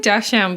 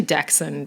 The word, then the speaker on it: dachshund: flicky flick flick yeah i say darshan but um it's actually dachshund is it uh i think so yeah like jackson well because it's a german name so i'm obviously saying